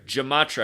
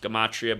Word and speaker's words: gematria: If you're new here, Gematria, I learned about this in Manly P. Hall's The Secret Teachings of All Ages. And the word's actually pronounced Gematria, but I prefer Gematria because it's like gem.